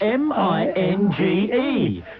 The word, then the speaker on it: Minge: He was called Rudi Minge, spelled M-I-N-G-E, pronounced Minge.